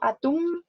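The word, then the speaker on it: atum: atún cabe destacar que la m al final de las palabras se pronuncia igual como una n pero se escribe con elementos por ejemplo este al atún no lo digo como atún con m sino atún cereal cereal carne de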